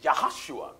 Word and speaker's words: Yahoshua: who was Moses Minister there are no JS in the Hebrew language right so the proper pronunciation of Joshua is yahoshua that's right and yahoshua